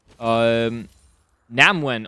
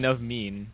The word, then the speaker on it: Namwen: Oh my god, I've been saying this name wrong the entire time. Namwen gonna be hovering. What are you calling him? I was calling Navmean. Oh. Yeah, that's just wrong.